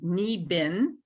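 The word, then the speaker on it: Niibing: ojibwe word which is knee bin so it's pronounced knee ben and it's spelled n-i-i-b-i-n-g so i thought okay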